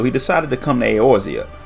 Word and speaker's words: Eorzea: decided to come to eorzea a place he mispronounces as air's ear which now that i say it out loud isn't really that far off he went straight to